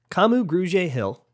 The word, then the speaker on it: Kamu Grugier-Hill: Kamu Grugier-Hill, and I am very sure that I'm pronouncing that right because his sister will get very mad at me if I don't.